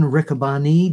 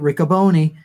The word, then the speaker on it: Riccaboni: Ian Riccaboni. Did I pronounce it right? You sure did. I used to pronounce it Riccaboni.